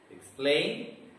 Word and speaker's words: explain: So a verb which is having two syllables, usually the stress will be on the second syllable. That is why the words are read forget, explain, and repeat.